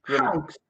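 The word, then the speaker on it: Hawkes: Concepción, tú mencionaste el modelo de Hawk. ¿Así se pronuncia? Sí. Hawks.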